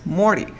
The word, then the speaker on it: Morty: Se escribe Morty, pero tú dices Morty.